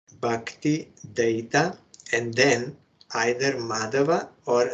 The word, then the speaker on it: Dayita: in remembrance of this you should be bakti da I hear some isan devotees they sometimes pronounce bakti daa but that is not correct daa means demon from